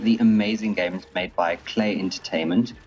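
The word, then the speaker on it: Klei: amazing games made by Clay entertainment clay rhymes with Clay very clever take on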